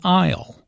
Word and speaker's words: aisle: does which task Isle notice the silent s in aisle an aisle is an